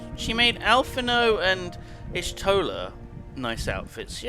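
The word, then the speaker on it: Alphinaud: How can you still not pronounce his name? It's Alphino, sir.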